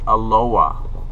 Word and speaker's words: Aloha: really strange here because they pronounce it aloa the H is silent but it's spelled Aloha so I don't know